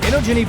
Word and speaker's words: Inogeni: We are here, day one, InfoComm, at the Inogeni booth. I've been told that's one of the correct pronunciations.